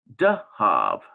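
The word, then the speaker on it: דְּהַב: saw on the chart, Biblical Hebrew has Zahav. That's how you pronounce that, Zahav. While Biblical Aramaic has Dahav. Okay, D-A-H-A-V. Okay, so there's like a difference here because in Biblical Aramaic, you got this D sound on this same word, but in Biblical Hebrew,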